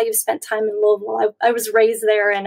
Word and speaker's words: Louisville: and chelsea atkins how you spent time in louisville i was raised there and uh you said